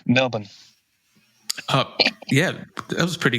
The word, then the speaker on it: Melbourne: Everybody say you're supposed to say um you need you need to say without the R some Melbourne.